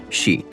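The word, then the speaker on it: 死: In Japanese, the number four can be pronounced she and the word for death is also she.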